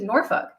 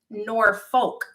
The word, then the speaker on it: Norfolk: tina stop it's portsmouth same thing with norfolk um and i'm probably still not saying that right but it's nor folk is the way it's spelled out but it's norfolk or norfolk norfolk that's how they say here oh no norfolk norfolk